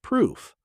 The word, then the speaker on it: proof: Pronunciation, 1 syllable, long oo sound. Proof rhymes with roof.